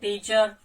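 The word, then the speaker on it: teacher: जो साइलेंट करता है वो है ऑस्ट्रेलियन और ब्रिटिश, जो आपके आर लेटर को साइलेंट कर देते हैं। कंडीशन कुछ भी हो सकती है, लाइक टीचर।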